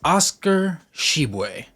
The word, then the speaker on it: Tshiebwe: And that is how his last name is pronounced in Jamaican, though it has a different pronunciation in French. However, he finds it to be the easiest to be pronounced that way because in America, it's just easier to say it that way.